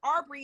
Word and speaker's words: Arbery: First of all, the word Arbery is actually it may not be spelled the same, but it is pronounced the name. It's a study of trees.